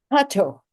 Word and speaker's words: Kato: Am I pronouncing it right? Kato.